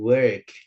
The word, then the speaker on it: work: Bacanya jangan walk ya, bukan o tapi e gitu. Jadi go to work.